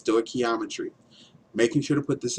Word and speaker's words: stoichiometry: sto geometry is Greek for measuring elements is pronounced sto ometry making sure to put this in there because